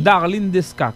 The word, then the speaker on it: Darline Desca: C'est Darlene Desca, comme oui. Ça se prononce.